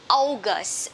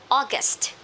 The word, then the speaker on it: August: This one, some people would say August. Sorry, they're not correct. This is or, okay? Long or. August.